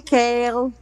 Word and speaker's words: Kale: It's pronounced like the veggie kale that tastes gross. Okay, kale.